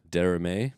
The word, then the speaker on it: Derrame: So this is Portuguese. I would probably roll into something close to Spanish and call it Derrame. Derrame? Derrame. Okay. Yep. Because I would say that you would pronounce that last letter being like Portuguese and Spanish somewhat similar, not exact, but Derrame. Yeah. And you'd have to roll the R's.